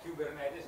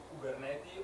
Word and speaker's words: Kubernetes: Kubernetes e come si pronuncia. Quindi se una cosa dovete imparare è Kubernetes, non Kubernetes o quale qualsiasi altra diavoleria di pronuncia. Lo faccio risentire. Kubernetes.